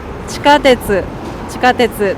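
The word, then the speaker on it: 地下鉄: そう、iron under the ground 地下鉄と読みます。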